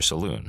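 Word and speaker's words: Selûne: Standing against this is, of course, her twin sister, Saloon, or Salune depending on the pronunciation, believed to be the manifestation of primordial creation in antithesis to Shar.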